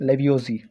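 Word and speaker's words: Lavoisier: सक conservation of matter law एक science Antoine लेवजी ठीक एंटोइन लेवजी जो प्रोनाउंसिएशन थोड़ा डिफिकल्ट ठीक है सो एंटोइन लेवजी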